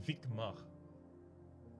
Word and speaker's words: Vikmar: Your partner's name in D is pronounced Vikmar.